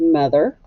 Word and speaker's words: mother: And And the O in mother, what sound does that make? Yeah, it makes a short U sound.